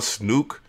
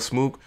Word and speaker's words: Smook: Like ATL Snook, not ATL Snooks, ATL Smook.